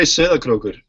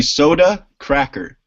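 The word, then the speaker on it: Sauðárkrókur: We say Söderkrokur. Okay. I'll just let you pronounce it. The easy version would be soda cracker.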